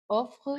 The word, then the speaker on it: offrent: À tous en ligne, nombre de laboratoires offrent Présent, hein, la NT ne se prononce pas.